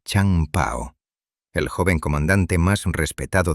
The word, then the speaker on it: Chang Pao: Pronunciado Chang Pao, el joven comandante más respetado de la enorme tripulación.